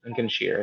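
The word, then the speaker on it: Lincolnshire: called Lincoln England Lincoln Lincoln Shear is I think how you pronounce it um and after doing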